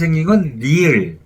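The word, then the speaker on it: 리을: We pronounce it as "nieun." And "ㄹ" is "rieul."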